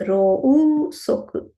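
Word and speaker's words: ろうそく: It is rosoku. So when I pronounce it, I will tell rosoku. But actually it is rousoku.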